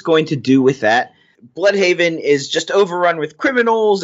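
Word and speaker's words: Blüdhaven: Now, are we calling it Bloodhaven or Bloodhaven? Because it's spelled with an umlaut, so I like Bloodhaven, but I think probably everyone says Bloodhaven.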